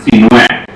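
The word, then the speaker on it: Sinuhé: My first name is spelled Sinhue, and it's pronounced Sinue. Wow. Sinue.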